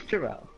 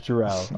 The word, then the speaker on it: Jarrell: Number one, is it Gerald or Jarrell? Because I'm pretty sure I've been pronouncing it wrong this whole time. It is Jarrell. It is Jarrell.